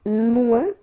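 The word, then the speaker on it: moins: want to say less it's mu in French so no discussion about the S here don't pronounce it okay and then you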